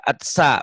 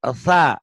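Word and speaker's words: ث: T-nya tuh kebaca. Atsa bukan sa ya.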